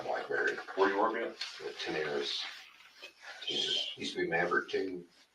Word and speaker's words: Tenaris: Tenaris. Okay, just like it sounds. Yeah. Spell it again.